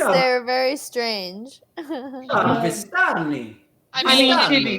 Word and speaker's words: Vistani: I was like, well, how do you say greetings in Istani? Vistani, little one.